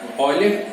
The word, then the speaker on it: Euler: Euler, no caso a pronúncia é alemã, e aí essa relação